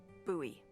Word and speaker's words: Bowie: It's actually pronounced Bowie. What? No, it's like the last name, like David Bowie. Different last name.